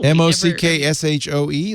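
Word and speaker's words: maque choux: it i don't know m-o-c-k-s-h-o-e like mock shoe oh no it's it is m-a-q-u-e-c-h it's shoe i know what shoe is yeah shoe is like roux yeah yeah it's look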